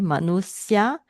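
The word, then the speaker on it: manuṣya: Manusya, Sanskrit manusya, Pali will be SY become SS, manusa.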